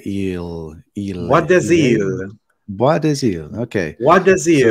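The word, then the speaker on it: Bois des Îles: Bois de Ile. So, whenever you have an S before a vowel, you can pronounce the S when it's before right. A consonant.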